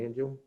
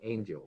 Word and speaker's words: Angel: Is a presentation by Julie Angel. I like to pronounce that a little better. It's almost like Angel, but it's Angel.